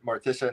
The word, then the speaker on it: Morticia: Gomez goes hard for Morticia and doesn't care who knows it.